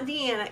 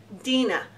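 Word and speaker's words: Deana: because she said that everybody says ok wrong it's not Indiana it's Dena Dena Carter and I will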